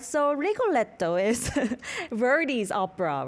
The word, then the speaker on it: Rigoletto: I'm not pronouncing it perfectly, but it's Rigoletto, right? Rigoletto, yes.